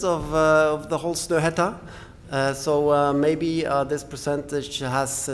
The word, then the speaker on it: Snøhetta: All right, Snøhetta. A little bit hard to pronounce with this letter, so it becomes Snohetta when we talk about when people kind of adopt it in.